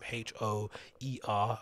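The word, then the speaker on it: Hör: Hoer. I think it's spelt phonetically, but it's actually pronounced with the double dot on the O.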